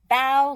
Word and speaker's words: bao: Bow like bow. When you bow to somebody and you go like that. That kind of bow. It says not like bow. So we know to say bow.